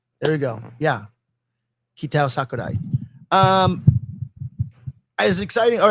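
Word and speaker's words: Kitao Sakurai: How to pronounce the new Street Fighter director's name. Ktow Sakurai. There you go. Yeah. Ktow Sakurai.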